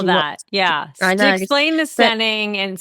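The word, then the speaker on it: Steyning: Explain the stening and spell it, please.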